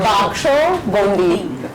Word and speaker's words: Baksho Bondi: I have to pronounce Baksha Bundi. Baksha. Baksho Bundi.